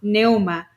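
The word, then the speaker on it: πνεῦμα: La P está muda o silenciada. Nós aprendemos ontem que a palavra grega para vento, para ar, para espírito é pneuma. Só que o P é mudo, então é neuma.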